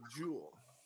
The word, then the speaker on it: Jewell: Today we have with us Amanda and David Jewell.